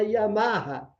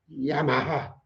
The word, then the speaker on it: Yamaha: Só no Brasil a gente fala Yamaha. Em todos os lugares do mundo é Yamaha, que é a pronúncia correta.